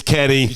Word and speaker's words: Kenny: It rhymes with Lenny. And Penny. And... It's Kenny. Yes.